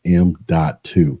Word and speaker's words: M.2: talk about the m.2 and yes it is pronounced m.2 this is an SSD that can mount directly